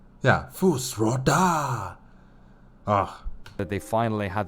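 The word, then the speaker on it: Fus Ro Dah: Yeah, Fusroda!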